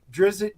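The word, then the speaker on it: Drizzt: go back and forth the correct pronunciation was drizz it do Urban but we've all pronounced idritz going back to the to the 80s when Salvatore first wrote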